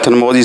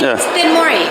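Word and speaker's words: Thenmozhi: We have Thanmozi Sundararajan. Maybe I pronounced right. It's Tenmori. Yeah. Thanmori? Yep. It's Thanmozi, I think. No, Tenmori.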